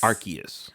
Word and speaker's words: Arceus: you pronounce it archaic arceus arceus everybody thought it was arceus me me included but apparently it's arceus arceus well either way